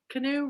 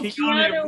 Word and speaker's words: Keanu: I call him Canoe. His name's not Canoe, it's Kinnear. Kinnear. Greg Kinnear. No. Canoe Reeves. Oh, Keanu Reeves.